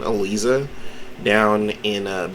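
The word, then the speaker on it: Eliza: is having elisa i'm gonna use her correct pronunciation elisa down in a b tier little vampire meter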